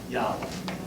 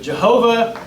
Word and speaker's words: Yahweh: His name is I am, Yahweh. And so, as I say, but Jehovah is actually not the right way to pronounce the word.